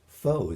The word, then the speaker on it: faux: And the word faux is very useful because F-A-U-X, pronounced faux, is commonly used for a fake.